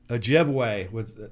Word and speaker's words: Ojibwe: That was the Ojibwa, or how do you pronounce that? Ojibwe.